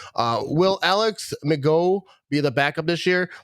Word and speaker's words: McGough: Will Alex McGough be the backup this year? Like, I didn't really see a lot. That's that new guy that they just picked up, right? McGough is how you say it.